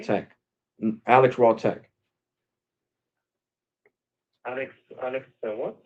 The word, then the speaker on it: RawTech: Raw Tech. Oh, fine, okay. Yeah, like Monday Night Raw. Like Monday Night Raw, like that. Spelled the same way. Raw. RAW, and then the word tech, all one word.